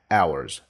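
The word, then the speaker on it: hours: ت اورز اورز اورز صوت الاتش هنا طبعا سايلنت فطبعا طبعا ما بقولهاش لا بقول اورز فز فز فز اتمنى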